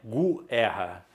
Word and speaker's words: guerra: com esse g u o u não é pronunciado não é Gu erra então aqui existe um